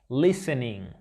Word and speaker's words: listening: Recuerda, para una pronunciación correcta, no pronunciamos la G del final de estos verbos. Listening.